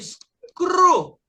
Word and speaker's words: screw: Você tem screw. O E com o U faz um som só.